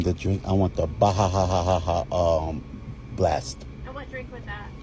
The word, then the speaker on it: Baja Blast: You just gotta say it right. It's the Baha blast. He's saying pronouncing it right.